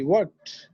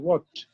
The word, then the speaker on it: worked: I worked. T উচ্চারণ worked এর উচ্চারণ সাধারণত টির মতো হয়। I worked শক্ত, Worked.